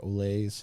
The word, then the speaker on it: Ole's: I wanted to look up like how to pronounce it because I was like, is it Oles or Ole's? And it's Ole's.